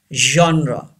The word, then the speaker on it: genre: word chocolate number seven genre yes very important genre here G doesn't give the sound of girl and Jeff here G gives the sound here like Misha genre say this word Chandra